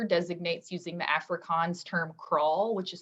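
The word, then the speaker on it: kraal: that the author designates using the afrikaans term crawl which is spelled k-r-a-a-l so in the center of the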